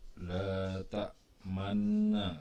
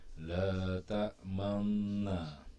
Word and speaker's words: لا تأمنا: Tapi setelah kita tahu bacanya nggak boleh la ta mana, tapi harus menunjukkan bahwa di sini tuh ada huruf nun juga. Asalnya la ta manuna itu. La ta manuna. Jadi bacanya gimana dong? Bacanya la ta manna.